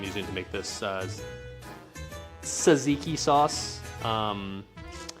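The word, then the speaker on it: tzatziki: Tazatziki. Okay. In reality, I actually know it's pronounced Saziki, right?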